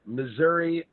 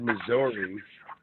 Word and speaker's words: Missouri: found out i said i say the state name wrong because i always said missouri but it's missouri and it took me like six months to learn how to say it missouri i hope i